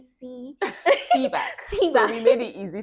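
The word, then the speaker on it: CBAAC: I heard you spoke about, you know, the Ministry of Arts and Culture and I'm finding it difficult to pronounce the CB CBA Seback.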